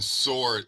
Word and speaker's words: sword: They were making fun of Wu-Tang as they're the only cats who pronounce the W in sword.